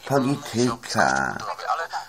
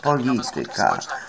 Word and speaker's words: polityka: U nas nie ma matematyka, u nas nie ma polityka. Prawda? U nas nie ma biblioteka, tylko jest biblioteka, matematyka, polityka. No takie są akcenty poprawnie stawiane na trzeciej sylabie.